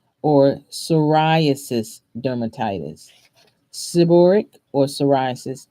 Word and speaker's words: psoriasis: Seborrheic or psoriasis. And the psoriasis is spelled PS. So maybe these are Latin words, I'm not sure, but we call it psoriasis and it has a P.